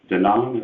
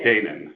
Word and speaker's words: Canaan: Danone, is that how you say it? Canaan. Sorry. Like Canaan.